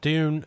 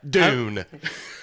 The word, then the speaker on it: Dune: coming soon all right Dune thanks for listening I'm coming Dune what Todd sorry damn it it rhymes with soon no I get it